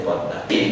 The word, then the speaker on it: Padma: We write Padma, but say Padda.